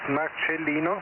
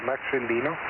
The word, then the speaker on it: Marcelino: What's what's the last name Marcelino? Is it Marcelino or do I have that right? It's Marelino but yeah it's it's okay. Marelino as if there was a ch that's how you pronounce it.